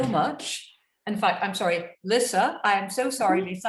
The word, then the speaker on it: Lissa: thank you so much in fact i'm sorry lissa i am so sorry lisa i've been i realized i've been mispronouncing your name all this time so that